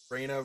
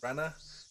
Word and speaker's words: Rena: got some tips uh I know I'm pronouncing Raina wrong it's Rena um I'm going to